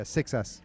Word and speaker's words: Seixas: How do you pronounce it with an X in Seixas? it? Yeah, 6S.